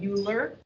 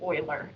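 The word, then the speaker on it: Euler: E is it was discovered by Uler, but actually it sounds like Oiler.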